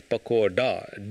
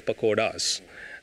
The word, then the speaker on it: pakoda: as pecora, but in Hindi, it is pakoda, D. You know, they call us pakoras, but in English it is written as pakoras. They say pakoras. I think in the West it's difficult to pronounce D.